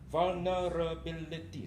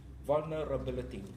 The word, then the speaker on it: vulnerability: is consume conducive V vulnerability six syllables vulnerability vulnerability you see the difference that is what we